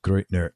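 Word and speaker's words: Gruettner: loves guitar calm and you'll look up henrik great nur and it's right there next to his name and his hendrix poses last name g ru e TT ner and it's pronounced great nur and the band is touring as as of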